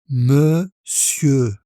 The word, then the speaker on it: monsieur: Monsieur. Donc, le R final ne se prononce pas.